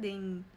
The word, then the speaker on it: Dane: Dijan. Bacanya sebenarnya Dane. Dane Dijan atau Dane Tehan.